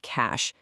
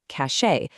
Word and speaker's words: cache: Let's take the computer memory term cash. For years, people have pronounced this cache. But cash is actually a homophone for cash, like paper money. It sounds exactly the same. If you say cache, you're actually using the word cache, which means prestige or status.